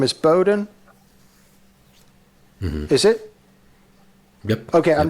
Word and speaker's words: Bohdan: Strangely, people that could read it perfectly mispronounced it. Okay. Yeah. So it's Bohdan and Justin.